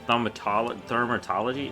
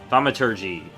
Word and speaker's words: Thaumaturgy: Thaumaturgy? No, Thaumaturgy.